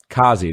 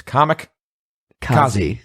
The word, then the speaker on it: Comic-Kazi: That second C always gets left out. They do like Kazi. No, it's comic. Kazi. Yeah, it makes sense to me. Stuff. We should try and on, pronounce both of them.